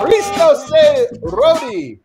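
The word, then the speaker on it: Христос се роди: Christo se Rodi.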